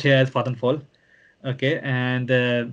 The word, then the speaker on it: Vattenfall: Like if you are choosing wind, there are companies like Vattenfall, which you pronounce Vattenfall, but it's Vattenfall, I suppose, but it's pronounced here as Vattenfall.